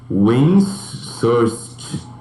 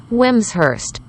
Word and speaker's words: Wimshurst: Windsurst.